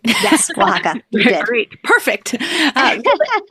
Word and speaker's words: Oaxaca: Did I pronounce that right? Yes, Oaxaca.